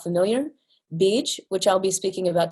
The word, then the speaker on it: bija: Bij, which I'll be speaking about today, you see that the A is there, but it's often not actually pronounced bija, although some people will say it that way, means seed.